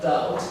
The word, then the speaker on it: doubt: Now Nelson, the word doubt, D-O-U-B-T, remember? Did I talk to you about this? How do you say these two words? The B sound is absent for these two words.